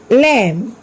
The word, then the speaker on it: lamb: Take some other examples like comb, climb, tomb, thumb, lamb. Here also B is silent.